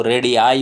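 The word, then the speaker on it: radii: इसका प्रोनाउंसिएशन थोड़ा देखने की ज़रूरत है। RAD के बाद में 2 आईज़ हैं, 2 आई दी गई हैं, लेकिन दोनों डिफरेंटली प्रोनाउंस होंगी, यानी पहली आई ई की आवाज़ देगी और बाद वाली आई की आवाज़ देगी, रेडियाई हो जाएगा।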